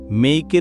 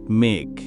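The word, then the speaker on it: make: মেইকের উচ্চারণ হবে মেইক। নট মেক।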